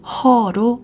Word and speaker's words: huh: 한다 주문은 각각 짧다 첫 번째는 huh이고 허로 발음한다 두 번째는 wha다 t가